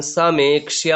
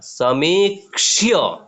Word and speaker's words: समीक्ष्य: उसके बाद स म बड़ा ही की मात्रा समीक्ष्य, समीक्ष्य, ठीक है। जब बड़ाई की मात्रा होगा तब हम लोग थोड़ा सा दीर्घ उच्चारण करेंगे, ठीक है।